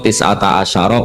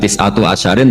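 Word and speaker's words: تسعة عشر: alaiha ituu tetapatase neroko tisata Asaro utawi solongol tetap bacanya bukan tisatu asarin tapi tisata jadi kita tahu secara hukum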